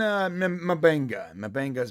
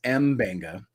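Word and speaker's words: M'Benga: Mabenga is Mbenga. Oh, is it Mbenga?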